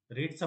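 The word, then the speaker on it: read: जसं आता ऐकल्यानंतर कसं रीडचा पास्ट टेन्स पण म्हणायचं त्याला रेड ठीक आहे म्हणजे थोडक्यात तुम्हाला ऐकायला लागणार काहीतरी त्यानंतर तो नवीन वर्ड कळणार की आय हॅव रेड का म्हटलं गेलं पण स्पेलिंग रीड होते ठीक आहे म्हणजे या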